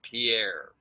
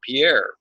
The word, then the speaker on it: Pierre: It is not pronounced Pierre.